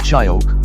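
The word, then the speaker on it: Shyok: maintained by the discrete monastery on the oak pronounced shayok river the main village diskette is home to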